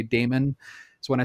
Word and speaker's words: daemon: term daemon it can it can sometimes be pronounced demon as well but so we're clear to people which one we're talking about i'm going to say damon so when i say